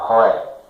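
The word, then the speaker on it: רֹאֶה: A pronúncia roé.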